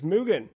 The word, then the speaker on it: MUGEN: for mugan which is mugan because it's taken from the Japanese word Mugen which means Without Limits or basically Infinity checks